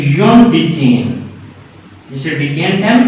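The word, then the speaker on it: undecane: इसको अन नहीं बोलना, कुछ टीचर इसको अनडीकेन कहते हैं, ये सही प्रोनाउंसिएशन नहीं है, इसको अनडीकेन नहीं कहना बल्कि योनडीकेन इस तरह से बोलना।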